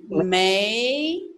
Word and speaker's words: 没: You need to pronounce 没 rising 没没对没关系，没关系，Perfect.Oh, Alan, 对不起。